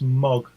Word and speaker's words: Moog: It's pronounced Mog. Mog? Oh, the Mog. Not Moog? No.